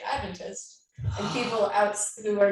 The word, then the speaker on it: Adventist: The correct lingo is Adventist. Yes. Okay. Emphasis on the first syllable.